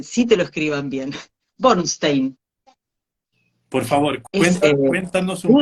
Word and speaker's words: Bornszten: cuando querés que sí te lo escriban bien bornstein por favor Pues cuéntanos un poco más de